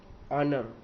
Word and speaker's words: honour: ऑनर, HONOUR, HONOUR, ऑनर, हम इसे ऑनर बोलेंगे, तो एच जो है वो हम नहीं बोलेंगे।